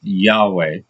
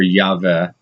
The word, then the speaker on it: Yahweh: Just like with Jehovah, the name is probably pronounced Yahweh or Yahweh, but the Karaites added